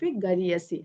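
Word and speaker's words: गरीयसी: जननी जन्मभूमि स्वर्गादप गरियसी हमें जरा संस्कृत का उच्चारण गरियसी गरु है वही गरियसी है ये गरीसा अवधि में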